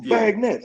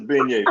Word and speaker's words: beignet: I said, "It's a beignet, father. That's a beignet. We pronounce it beignet."